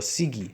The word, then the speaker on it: Sigi: My father, who was dark-skinned, boasted that he was Sicilian, or Sigi, soft G.